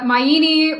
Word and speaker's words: Minini: correctly uh very close it's like uh minini rhymes with Linguini yep yeah okay yeah